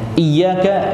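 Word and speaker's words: إِيَّاكَ: Ya, iyyaka itu seperti ini bacanya, ya-nya harus tasydid. Ya-nya harus tasydid.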